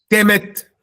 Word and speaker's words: Kemet: Se pronuncia kemet.